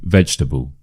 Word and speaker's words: vegetable: Vegetable. Vegetable. So yeah there are twowas here. The stress is on the veg.